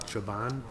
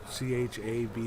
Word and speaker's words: Chabon: I don't know how you pronounce it. Chabon, Chabon.